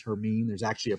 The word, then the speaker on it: Hermine: the list uh h-e-r-m-i-n-e it's not Hermione or whatever they say in the thing but it is her meme there's actually a pronunciation